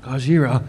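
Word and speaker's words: ゴジラ: And No, you said it wrong. It's Godzilla. Gojira.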